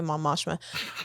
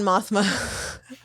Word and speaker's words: Mothma: mothma I have to remember the right way to say it so I don't say Mom ashma I had them on mothma uh brooch that I